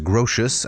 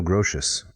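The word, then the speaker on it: Grotius: with it yeah so grotes are grosius I think is uh how it's often pronounced it was a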